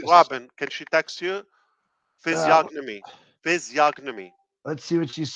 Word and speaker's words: physiognomy: Oh, there's no G. See, now Key said it one way and Robin said it the other. Who's right? Now, she's got the English accent. What is that? Robin is always right. Robin is always right. So physiognomy. Okay. Physiognomy. Physiognomy. Physiognomy. G silent.